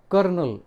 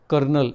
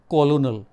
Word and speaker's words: colonel: ये कौन सा वर्ड है? कर्नल। ठीक है, प्रोनाउंसिएशन इसका क्या है? कर्नल। लिखा क्या रहता है? कॉलोनल।